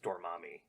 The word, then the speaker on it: Dormammu: It's pronounced Dormammu.